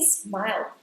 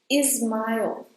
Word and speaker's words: smile: When you're saying "smile" smile. You have to change the sound at the end to "aiol" Smile. And be careful not to add an /i/ sound at the beginning of "smile". Try to start at S and not... Do not put another vowel sound before S. I see that some people tend to say "ismail", "is mild"...